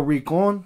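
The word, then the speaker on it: Rincón: But he changed his name to Daniel Rincon. That's yeah. it, right? Yeah. Yeah, oh, put shit. The accent on the O.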